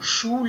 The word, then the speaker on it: Schule: This has to be very pronounced. Schule. Cassette. Okay. It's a complete sound. It cannot be cassette. Okay. It cannot be Schule. It is Schule or Schule.